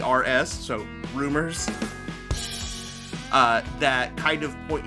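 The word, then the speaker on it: Roomers: It's spelled R O O M E RS. So, rumors uh that kind of point you in the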